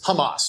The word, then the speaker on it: Hamas: I I the pronunciation, by the way, the terrorist organization Hamas, it's Hamas.